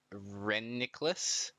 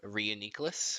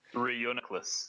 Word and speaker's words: Reuniclus: I see Alex you were complaining about Paul pronunciation and I think you called it Nicholas instead of Rhea necklace which is the correct pronunciation reuniclus and I'm very disappointed in you does anyone